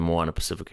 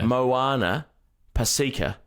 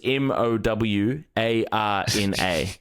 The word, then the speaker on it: Moana Pacifica: So Moana, that's almost wrong. That's 50% right. Say I wrote that down as Mowarna. Moana. Moana. Yeah, and then Pacifica was Paseeka.